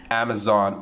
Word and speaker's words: Amazon: Amazon. How do you pronounce that? Of course, we say that Amazon is the correct pronunciation.